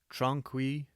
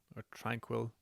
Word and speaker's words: Tranquille: Okay, so Tranquille All right. Sanatorium. I did watch something earlier on to say the pronunciation. I'm just going to call it Tranquil. Okay. It's just French for tranquil.